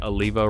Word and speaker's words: Oliva: And side note, for all the people saying that I'm saying Aliva wrong, I'm pronouncing it wrong.